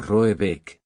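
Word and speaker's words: Råbäck: Pronunciado algo así como Roebeck, aunque ese no es su nombre.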